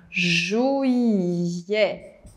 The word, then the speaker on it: juillet: Nós começamos então com juillet atenção, juillet existe a pronúncia “juiê” mas existe a pronúncia “juié”, aberta mantendo aqui o T mudo e abrindo no final.